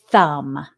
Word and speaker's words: thumb: Number 1, the word is thumb. Thumb. Thumb has a letter that is silent.